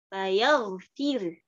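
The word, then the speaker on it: فيغفر: Jadi dibacanya fayaghfir. Kemudian kita waqaf dengan cara ismam. Ya berarti karena dia hukumnya mengikuti hukum saat waqaf, maka ro-nya dibaca tarqiq. Kemudian kita tambahkan isyarat dhammah di akhir. Fayaghfir. Fayaghfir.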